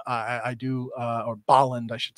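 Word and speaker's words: Bolland: put this one up just to put another Boland up um I I do uh or Boland I should say as the proper pronunciation as Joseph melkier has taught me um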